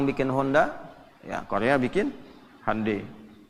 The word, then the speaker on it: Hyundai: Ya, Jepang bikin Honda, ya Korea bikin Hyundai. Hyundai bacanya Hyundai.